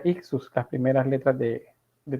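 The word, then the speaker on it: ἰχθύς: oter es el el en griego este se pronuncia ictus las primeras letras de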